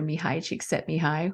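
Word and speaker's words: Mihaly Csikszentmihalyi: have probably heard of the Hungarian American researcher mihai cheek set me high whether we know how to pronounce his name or not but that's how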